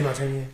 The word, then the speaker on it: Demartini: Is that how you pronounce his last name? Yeah, DeMartini.